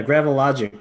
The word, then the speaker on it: Gravilogic: You're with Gravilogic. Is that the company? Am I pronouncing that correctly? Yeah, that's fine. Yeah, Gravilogic.